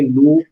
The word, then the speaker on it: Knoop: तो इस चीज को ध्यान रखिएगा कि माइक्रो हार्डनेस टेस्ट लगाना हो तो आप किसका यूज करेंगे, नूप माइक्रो हार्डनेस टेस्टिंग, KNOOP, ठीक है, के साइलेंट है।